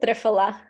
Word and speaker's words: triphala: But let's talk about a few other ones that benefit the gut, namely ginger and triphala. Am I pronouncing that correctly, or? We pronounce it triphala.